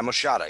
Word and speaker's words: moschata: Fragaria vesca and Fragaria moschata, I think is how it's pronounced. Yeah, moschata.